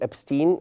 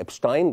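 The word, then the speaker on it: Epstein: بكلمكم عليه ان في واحد راجل اسمه ابستين او الناس بتسميه بلغه اخرى ابستاين بس هو ابستين ده الاسم طريقه نطقه اللي اكتشف الابشتاين بار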